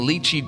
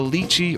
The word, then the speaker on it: lychee: But first, the lychee or lychee jelly, you can pronounce it either way.